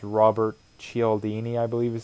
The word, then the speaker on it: Cialdini: And I was reading, if you've ever read the book Influence by, I think it's Robert Cialdini, I believe is how you pronounce it, or Cialdini.